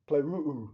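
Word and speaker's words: πληρόω: It's the Greek word pleruu. It's actually got two syllables at the end.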